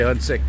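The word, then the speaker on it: Ahuntsic: which is funny because when you say a Hunsik in French, they just say Hunsik. You know, like the H is silent.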